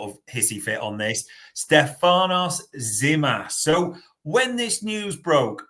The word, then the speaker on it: Stefanos Tzimas: next one and I'm going to take the pronunciation of this before Bart has a sort of hissy fit on this Stefanos zimas so when this news broke a lot of